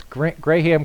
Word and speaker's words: graham: She says, no, it's gray ham crackers. And I was like, graham crackers. So again, sometimes the pronunciation, like a lot of things, is different here in the Philippines.